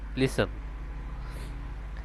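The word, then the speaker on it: listen: এখানে হবে লিসন। এখানেও সেম একরকম টির উচ্চারণ আসবে না। এখানে হবে গ্লিসন।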